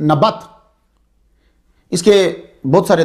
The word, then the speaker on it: نبت: ہے وہ تھا نبت، نون زبرنا بازبربا تا ساکن، نبت۔ اس کے بہت سارے تلفظ جو ہیں وہ آپ کو مل جائیں گے تحقیق کرتے ہوئے۔ نبت تے کے ساتھ بھی ہے، نابت بھی ہے، نبایوت بھی